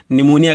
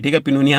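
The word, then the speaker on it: pneumonia: पिनोनिया लिखा हुआ है ना? पी एन ई यू एम ओ एन आई ए। ठीक है? तो इसको पिनोनिया निमोनिया कहना भाई। पिनोनिया मत कहिएगा हम आपका ऐसा ना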